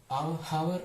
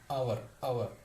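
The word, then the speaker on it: hour: അതായത് ഇതിന് ഹവർ എന്നുള്ള ഉച്ചാരണം പ്രൊണൗൺസിയേഷൻ വരുമ്പോൾ ഹ എന്നുള്ള വേർഡ് വരില്ല, അവർ എന്ന് വരുള്ളൂ.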